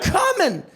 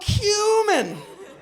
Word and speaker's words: cumin: I said, "Oh, comin'," which sounds exactly like "Oh, come in." Gee--all I could think about in that moment was my roommate. Like, he's right. I should have pronounced it correctly. If I'd have been like, "Oh, cumin."